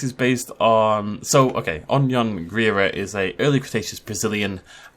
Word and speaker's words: Anhanguera: was very nice to include a pronunciation guide. Anhanguera. Anhanguera.